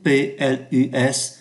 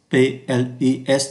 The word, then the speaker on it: plus: từ và trạng từ, thì chúng ta đọc là plus, không phát âm ký tự S, plus, không phát âm ký tự S. Khi so sánh danh từ, thì chúng ta có plus de que, ký tự S phải